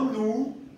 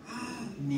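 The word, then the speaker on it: ν: Se llama, ni siquiera suena igual que la B. Suena como la N. Es la letra ni. No nu, ni ni, sino ni.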